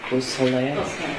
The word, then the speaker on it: Beausoleil: Could you tell me the pronunciation of Madisyn Baldwin's mother's name, Nicole Beausoleil?